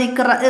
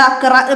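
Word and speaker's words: اقرأ: ഏതാണ് സൂറത്തുൽ അലക്ക് തുടങ്ങുന്നത് ഇക്രഹ് തുടങ്ങിയിട്ടാണ് അപ്പൊ നമ്മൾ അവിടെ അക്രഹ് ബിസ്മി എന്നല്ല നമ്മൾ ഓതി തുടങ്ങുന്നത് നമ്മൾ അവിടെ ഇക്ര ബിസ്മി റബ്ബിക്കല്ലതി എന്ന് പറഞ്ഞിട്ടാണ് ഓതുന്നത് അപ്പൊ അവിടുത്തെ ഉച്ചാരണം ഇക്രഹ് എന്നാണ് അപ്പൊ നമ്മൾ ഇക്രഹ് എന്നത്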